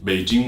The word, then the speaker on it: Beijing: in a phonetics sense prime example will be Beijing will be B I ji MV they do